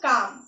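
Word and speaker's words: calm: হ্যাঁ, তারপর এল পেয়েছি, এল এর পরে এম পেয়েছি, কিন্তু প্রোনাউন্সিয়েশনটা তো আর কাল না, প্রোনাউন্সিয়েশনটা হলো কাম। তো এলটা কি হলো আমাদের, অমিট হয়ে গেল, ঠিক আছে। প্রোনাউন্সিয়েশনের মধ্যে আমাদের এলটা অমিট আছে, তাই আমরা লেখার সময়ও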